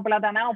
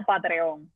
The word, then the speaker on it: Patreon: Hay dos formas de decirlo, Patreon o en buen dominicano platanao, Patreon, que es como casi todo el mundo la conoce, como Patreon. Patreon, y en inglés es Patreon.